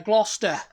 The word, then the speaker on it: Gloucester: sounds it's again it's it's that British logic of eliminating a letter that's in there eliminating several letters yeah gluster yeah gluster cuz you're not pronouncing the E the e that's in the middle of the word either it's not about the